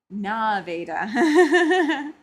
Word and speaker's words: Nevada: Uh, Nikki says we call Nevada Nah-veeda.